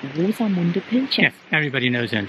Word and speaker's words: Rosamunde Pilcher: We pronounce it German, Rosamunde Pilcher.